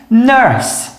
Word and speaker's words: nurse: Agora nós temos nurse, nurse. Reparem que eu não falo a última letra aqui, ó, o E.